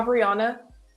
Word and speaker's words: Obriona: Obriona.